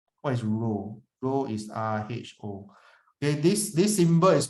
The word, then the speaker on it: rho: Rho is RHO. Okay, this symbol is called rho, pronounced as rho.